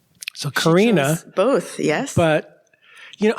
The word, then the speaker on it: Karenna: wanted but not the pronunciation this and the pronunciation so Karina both yes but you know I've got a